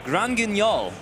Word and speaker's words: Grand Guignol: The latest main set to be released, it is Grand Guignol. That was top-notch pronunciation.